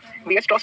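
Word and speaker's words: Weierstrass: इस टेस्ट का नाम लिख लो, वीएस-स्ट्रॉस टेस्ट। ये है स्पेलिंग WEIER। इस टेस्ट को कहते हैं वीएस-स्ट्रॉस टेस्ट।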